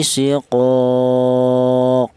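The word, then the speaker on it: شقاق: Ini cara bacanya fi siqaq, ya, dipantulkan qaq, seperti itu.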